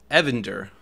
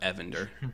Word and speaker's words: Evander: to grow brighter uh Evander Evander Evander not avender a Vander I'm G make it kind of pronounceable on here a Vander okay um you are